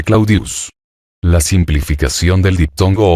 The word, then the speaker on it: Claudius: Claudia deseoso de popularidad decía Llamar clodius que era como el pueblo la mayoría pronunciaba el nombre claudius la simplificación del diptongo